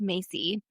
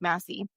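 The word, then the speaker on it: Massey: There's a sociologist called Morris Macy, Massie, I think it's pronounced Massie, and he did a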